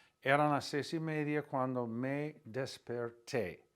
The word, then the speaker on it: desperté: Eran las 6:30 cuando me desperté with an accent on the E at the end.